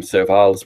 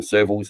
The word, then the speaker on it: Serval: unfortunately that you know some people call them survives we call them servers in Australia and it no name